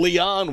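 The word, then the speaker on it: Lian: the ball camp kaitlyn leon will bat l-i-a-n the way she spells her last dime but it's pronounced like ellie o-n caitlyn leon is hitting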